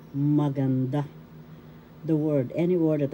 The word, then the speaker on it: maganda: the excuse me please third syllable has the accent maganda that's how you pronounce it when you say the accent is there that's how you will pronounce maganda the word any word